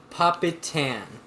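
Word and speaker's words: Papaitan: I have no idea how to pronounce this. Papitan.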